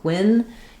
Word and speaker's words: penguin: Second syllable gwin is shorter and unstressed. It has the i vowel like it. It's a penguin. Um, letters Gu U do something strange here where they have the G and the W sound. So, no vowel sound for that letter U, just a W, just like in the word for example, twin.